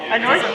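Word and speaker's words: À nossa: Nossa or a nós. A nossa is like to us. A nossa?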